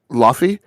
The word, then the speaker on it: Laufey: So I'm pronouncing it. Laufey. And the reason I'm doing that is because I am trying to. I may not be doing a good job. I'm leaning on Anthony Hopkins' pronouncement of the name from Thor.